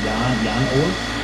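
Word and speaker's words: Jan Oort: It's pronounced like Jan Ort, because he's from the Netherlands or something like that.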